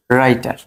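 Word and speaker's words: writer: Rule আমাদের 14 হলো, যদি ডব্লিউ আর থাকলে, শব্দের প্রথমে ডব্লিউ আর থাকলে ডব্লিউ উচ্চারণ হয় না, মানে ডব্লিউ বাদ।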